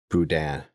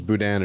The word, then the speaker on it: Boudin: recalling the likes of Boudin. I don't know if it's Boudin or Boudin. Spencer? Poutine. Poutine. It's poutine. Right. It's like the French fry dish. Okay. Yeah, but it's like poutine, but boudin.